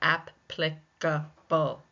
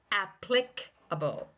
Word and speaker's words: applicable: applicable and it's the first syllable that's taking the stress, but it can also be pronounced applicable.